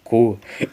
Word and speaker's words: Q: Aliás, acho que se eu lutasse contra um main Q espanhol, eu ia rir pra caralho porque a letra Q se pronuncia cu.